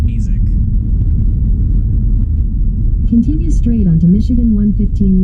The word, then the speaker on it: Mesick: But yeah, it's pretty funny how Google Maps is saying Mesick, where according to the Michigan Pronunciation Guide, it's pronounced Mesick.